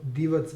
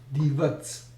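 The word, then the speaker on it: Divac: Serbia called papaz so this C is pronounced as TS in Serbian so for instance divs lot of divs that uh basketball player is actually not divat but D but divs okay next up I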